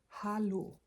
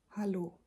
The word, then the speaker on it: hallo: Hello is hallo. Hallo. So, instead of an e, there's an a here. And in German, an a is pronounced not a, but ah.